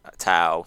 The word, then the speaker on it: Tao: It's ao, so it's ow, ow, ow.